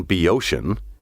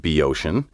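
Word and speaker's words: Boeotian: of letters hesiod pinder and plutarch were native be oceans athenian city slickers reveled in reviling these bucolic folk today the noun be ocean spelled capital b o e o t i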